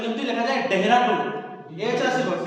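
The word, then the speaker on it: Dehradun: management 2025 held at देहरादून देहरादून ना तो spelling केमती लिखा जाए देहरादून एच आसीबो डी एच आसीबो किंतु प्रोनाउंस हो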